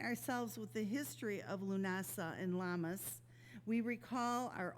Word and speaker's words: Lughnasadh: like my last name, it certainly isn't spelled the way it is pronounced, but it is pronounced Lughnasadh.